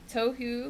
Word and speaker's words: Tohu: You can say it like tohu, like tofu, but with an H.